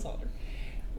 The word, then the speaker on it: solder: is scient silent yes so I'll pronounce the L and solder when you have a cup of English herbal tea with your salmon that's when I'll do it there is no l in solder soldier that's too much